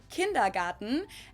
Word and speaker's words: Kindergarten: ones and that is kindergarten in German we pronounce it kindergarten and it literally means Children's Garden and even